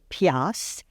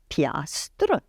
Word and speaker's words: piastre: On peut dire piastre et on connaît une piastre, c'est $1, Ouais. mais on écrit piastre.